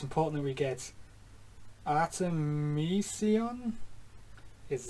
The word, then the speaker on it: Artemisia: made all right so it's important we get artemisia is how you pronounce his name and there's mog nine mog